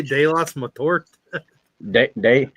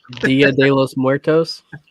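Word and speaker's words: Día de los Muertos: Did you just say Deos Mtor de? Gosh dang it. Dia de los Muertos.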